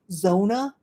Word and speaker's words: Zona: I think in English or in the US they say Zona. Maybe that's how they pronounce it, but it's Zona.